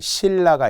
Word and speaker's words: 신라: 렐로 적는다 100% 있니다 자 표기는 신라 발음은 신라 그러면 로마자 표기의 첫